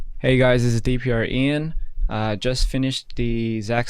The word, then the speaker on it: DPR IAN: studio gprn hey hey is that so much pronounced correctly um yes that is correct DPR Ian talking to that bad boy eat that microphone